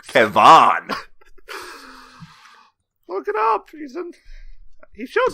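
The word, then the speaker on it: Kevan: Well, it's like spelled with an A instead of an I. Oh, Kevon.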